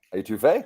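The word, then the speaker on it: étouffée: first time people that I had um shrimp etouffee is that how you say it etouffee yep I had never had etouffee before I'm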